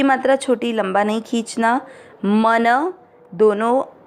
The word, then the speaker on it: मनः: मन दोनों जो है अक्षर पूरे हैं, दोनों में मिक्स करना। मन न में अ की मात्रा तो विसर्ग को पढ़ेंगे ह। मनः क के नीचे री